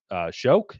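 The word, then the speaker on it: Shough: up the draft boards like Jackson Dart, Tyler Shoke. Is that how you pronounce? Shock. Shuck.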